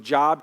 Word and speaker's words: Job: If you don't know it's pronounced Job, you just look for the book called Job, okay?